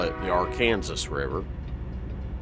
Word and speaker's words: Arkansas: And yes, it's pronounced Arkansas River. I say that because, just kind of give you an idea. I grew up in a little bitty town in south central Kansas named Arkansas City. Now, that does not mean I'm not saying Kansas City. No. It is spelled Arkansas City. Alright. That's not how they say it, though.